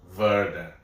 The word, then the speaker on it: Werder: But I know W's are pronounced V. Werder.